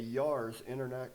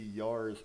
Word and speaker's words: Yars: A Yars intercontinental ballistic missile was fired from a test